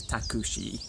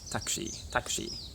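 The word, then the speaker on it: タクシー: Like taxi is takushi, taxi, not taxi, takushi.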